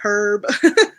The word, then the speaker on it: herb: No, we're gonna pronounce the H here.